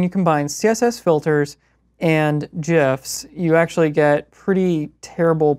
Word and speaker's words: GIFs: So it's pronounced GIFs. It's you know, whatever you feel most comfortable with. I feel most comfortable with being correct.